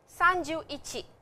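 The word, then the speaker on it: 三十一: me for practice and to get the correct pronunciation Sanju Ichi Sun juni Sanju Sun Sanju Yan ore sanjou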